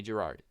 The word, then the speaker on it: Gerard: Just say Gerard.